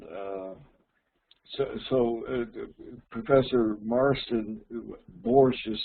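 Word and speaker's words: borscht: yeah and uh so so Professor Marston borsche is spelled in English b-o-r-s-c-h-t there are several variations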